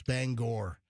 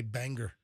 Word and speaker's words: Bangor: No, it's you don't say Bangor. The Maine people, they hate that. It's Bangor. You don't say Bangor. Why not? All right, so that's just the way they pronounce it.